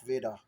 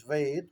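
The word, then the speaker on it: वेद: So when the British arrived, they had a tendency of putting an A as a suffix in all of our names, in all of our titles. Well, the real world is Ved, not Veda.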